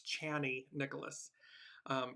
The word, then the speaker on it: Chani Nicholas: I apologize, I've been saying her name wrong. It's Chani Nicholas, incredible astrologer.